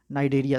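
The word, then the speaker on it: Cnidaria: Which belong the phylum कॉलेंटेराटा, या फिर इसको दिया है शाइनाडेरिया, नाइडेरिया, सी I think silent इसमें है, तो इसका सही उत्तर इन्होंने कोरल दिया है।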